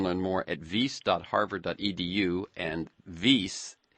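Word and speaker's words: Wyss: And you can learn more at vase.harvard.edu and vase is spelled wys.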